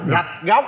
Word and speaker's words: Rạch Gốc: cái người miền Tây Mình có nói là gạch góc gạch góc chứ không phải là Rạch Gốc Ờ Khi mà mình đọc thì mình phải đọc đúng chính tả nhưng mà ở miền Tây Mình cứ gọi nói nhau là vu là gạch gốc gạch gốc gạch gốc ở